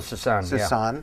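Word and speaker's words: Soussan: And you and Joe Lynn Turner, it was Phil, so how do you pronounce his name? Susan? Phil Susan, yeah.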